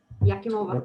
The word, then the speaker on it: Yakimova: You pronounced the name actually correctly. Yakimova, yes.